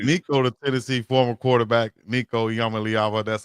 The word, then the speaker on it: Nico Iamaleava: Nico Yamaava.